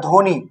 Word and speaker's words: ধ্বনি: করি না সরস্বতি মানে অল্প বটা উচ্চারণ হচ্ছে আর জ ফলাটাও কোন